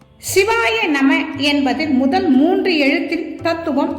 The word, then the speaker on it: சிவாய நம: சிவாய நம என்னும் மந்திரத்தின் தத்துவம் சிவாய நம என்ற மந்திரம் எழுத்து வழக்கில் சிவய நம என குறிலாக உச்சரிக்கப்படுகிறது சி வா ய ந